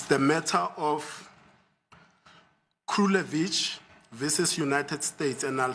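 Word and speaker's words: Krulewitch: It's the matter of Krulevich versus United States, and I'll spell it.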